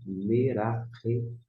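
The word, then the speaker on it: מְרַחֶפֶת: Mas como não tem um pontinho, que é o chamado gaguejo dentro, você vai ter um som de F, F de faca. Então você vai pronunciar Merafet, Merafet.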